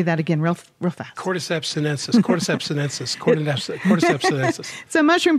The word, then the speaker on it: Cordyceps sinensis: has this incredible mushroom powder that I can't pronounce cordyceps and senses say that again real cordyceps sinensis and cordyceps sinensis so mushroom powder and it's